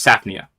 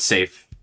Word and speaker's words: Safnia: You have Saf, and then you have Nia. It's Safnia. It's not safe.